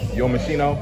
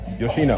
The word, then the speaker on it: Yoshino: Shakur at 135, he looked good against Yomashino. Let me say it right. Yoshino.